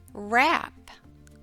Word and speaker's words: wrap: how did you do in the WR consonant team the W is silent as in the words right and rap turn in your reading and phonics workbook to page 12.